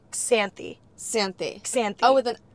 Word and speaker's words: Xanthi: matis face right now zany am I saying zany right okay so think of the X as like a KS sany Santi sany oh with